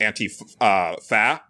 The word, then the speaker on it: antifa: the word uh antifa which I also don't like people pronouncing that way I think it should be pronounced anti uh fa because it it and